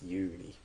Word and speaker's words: Yuri: So it's not Yuri, it's Yuri. With a long U sound.